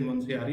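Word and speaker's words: मुनस्यारी: Spelling, but ये ध्यान रखो, नाम ध्यान रखो, प्रोनाउंसिएशन ध्यान रखो। इट इज मुंशियारी Pithoragarh.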